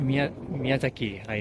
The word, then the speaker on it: Miyazaki Hayao: Miyazaki Hayao.